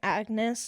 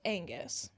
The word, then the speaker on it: Agnes: Also, I believe I'd been saying Agnes this entire time. It's Angus. I just didn't read that correctly. The N is before the G.